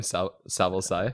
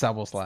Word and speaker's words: Szoboszlai: That's how you say his name, Szoboszlai. It's Szoboszlai.